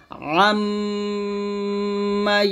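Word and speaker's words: عَمَّ: দেখুন, আইন উচ্চারণটা চাপ দিয়ে, এটা কিন্তু আম্মা বলা যাবে না, হামজা জবর কি হয়? আ হয়, আর আইন জবর আ, এই জন্য উচ্চারণে পার্থক্য বুঝতে হবে। আইনটা চাপ দিয়ে বলতে হবে আম্মা ইয়াতাসাআলুন।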